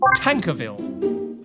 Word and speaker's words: Tankerville: Do you know how to pronounce every— Yes, it's pronounced Tankerville.